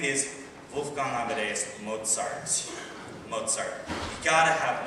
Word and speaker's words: Mozart: things came from mozar everybody say with me Mozart moart not moart no it's it's Mozart okay I know it's a